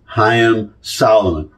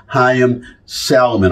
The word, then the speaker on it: Haym Salomon: um Revolutionary War named hyim Solomon is how you would really pronounce it but anglicized hyim Salomon I'm going to read